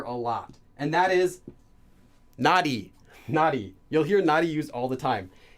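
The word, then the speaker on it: 나리: And a lot of times you'll hear this pronounced as nauri, nauri, nauri. But actually, it's supposed to just be nari.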